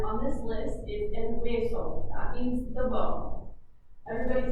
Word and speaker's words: hueso: this list is el hueso. That means the bone. Everybody say el hueso. El hueso. I know that one can be a little bit confusing because it starts with an H.